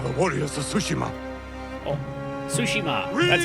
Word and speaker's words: Tsushima: us we are the Warriors of sushima oh sushima that's how you pronounce it doesn't B bode well for